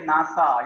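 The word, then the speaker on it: NASA: Country से ही है, तो इसको मिला के पढ़ते आप, ब्रिक्स बोल के पढ़ते हैं, इसको BRICS नहीं पढ़ते, इसको SARC नहीं पढ़ते, इसको हम मिला के प्रोनाउंस करेंगे नासा, इसको हम मिला के पढ़ेंगे सार्क, इसको मिला के पढ़ेंगे ब्रिक्स। तो ऐसे जो आप एक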